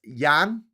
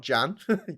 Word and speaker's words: Jan: not huzites but whatever his name is pronounced yan not jan yan huz like graham